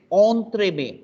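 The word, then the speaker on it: entremets: Entree. It's on. En is on. Then tray and then may. Not met. Once again, I say it's not met. T last mein pronunciation nahi hoga, which means it's going to be entremet. Entremet.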